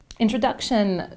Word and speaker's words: introduction: Introduction, c'est sur la syllabe avant le ION. La règle, c'est que tous les mots qui se finissent en ION sont accentués sur la syllabe avant, qui vient juste avant, donc la voyelle qui vient juste avant, introduction.